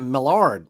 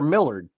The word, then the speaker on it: Millard: It's actually Millard, but it seems like it depends on where you're from on how it's pronounced, but it's Millard. Yeah, I grew up in South Mississippi and Louisiana, so it's Millard down there probably.